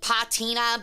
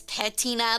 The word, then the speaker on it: patina: So, uh, I got to pronounce it with an a like patina, but it's patina.